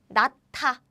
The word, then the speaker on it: 낳다: The important thing is, well, here meets 디귿. And what happens is it becomes 짠, aspirated version. So how we pronounce is like this. 낳다, 낳다, 낳다, to give birth.